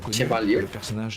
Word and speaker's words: Chevalier: Como se pronuncia o sobrenome do Victor? Chevalier.